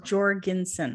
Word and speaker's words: Jorgensen: right so here's your last name is pronounced jorginson right right okay so i